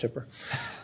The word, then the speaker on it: Hooper: And yeah, it's pronounced Hooper.